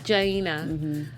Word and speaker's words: Jaina: And what's fun about this picture is Janae. Am I always saying her name wrong? Jaina.